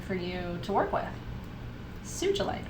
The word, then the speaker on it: sugilite: you to work with sugilite or sugalite if you hear it because i think it's tsuji tsugi or tsuji in japanese tsuji lite tsuji or sugi the card numbers are